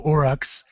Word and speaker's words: Uruk: Okay, the new orcs, the Uruks, with your accent and everything, how do you say it? Uruk. So it sounds very similar to orc. Yeah, really close to orc.